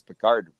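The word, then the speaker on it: Pickard: to say his name I thought it was picker now it's peard whatever going into game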